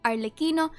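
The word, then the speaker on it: Arlecchino: an update video was because i actually keep mispronouncing the name arliquino because i had no idea that ch in italian was a k sound whoopsie anyway so for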